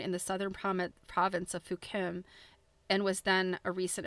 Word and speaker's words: Fukien: I think that the accurate anglicized version of that province is Fukien, and it's pronounced Fukim.